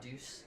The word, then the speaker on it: Deuce: I know you hang out at that douche gym. Is that where you go out? Deuce. Yeah, Deuce Gym. Did I say it wrong? I thought you said douche.